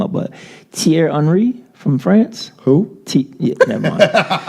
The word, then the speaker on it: Thierry Henry: They did that to, you remember on Thierry, I want to mess his name up, but Thierry Henry from France?